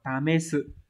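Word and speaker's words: 試す: Nếu mà chữ thí ấy, nó sẽ đọc là tamesu.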